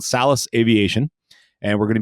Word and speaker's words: Salus: So for me, I say Salus. I think the correct pronunciation is Salus.